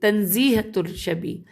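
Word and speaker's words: تنزیہ الشبیہ: نام ہے تزہیۃ الشبیہ، ہجے کر لیتے ہیں تنزیہۃ الشبیہ، اصل میں نقطے جڑے تے نون زے یہ ہے، الف لام شین بے یہ ہے، یہ انورٹڈ کاما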